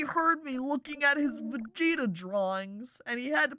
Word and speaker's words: Vegeta: over here doesn't he a vegeta i mean that's how you say it vegeta he totally draws manga